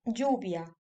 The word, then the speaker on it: lluvia: A la derecha, la L doblada se pronunciaría similar a la J en la palabra inglesa joke. Ejemplos: llave y lluvia.